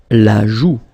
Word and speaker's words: joue: La joue. Final E not pronounced here. La joue.